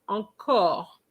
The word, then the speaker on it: encore: Um, the word encore is not encore, is encore, encore. Okay? not encore. It's encore. It's an open O.